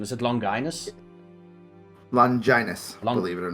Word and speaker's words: Longinus: It is the wrong pronunciation. Is it Longinus? Longinus, believe it or not.